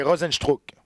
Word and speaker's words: Rozenstruik: Donc, ça se prononce un peu comme ça s'écrit, mais surtout les Brésiliens, il y a des lettres que tu n'as pas besoin de prononcer.